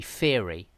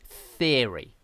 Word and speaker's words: theory: of a th sound so instead of saying i don't know um i don't know instead of saying a little word like um i don't know theory they'll say theory like that the theory of evolution the theory of evolution but this is very bad pronunciation okay you should not do that just say theory okay so definitely use